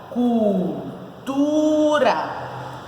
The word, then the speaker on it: cultura: Cultura. Qual é o nome por quantidade de sílaba? Ela tem quantas sílabas? 3, então ela é trissílaba. Qual é a posição da sílaba tônica? Cultura. Tá na penúltima.